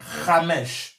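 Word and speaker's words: חמש: Che vuol dire- qui est lit, on lit Hamesh. si legge Hamesh.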